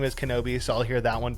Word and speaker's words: Knobbe: my last name is Kenobi so I'll hear that one pretty often uh and then my friends back home call me knob because phonetically that's how it looks like it should be pronounced uh and there's some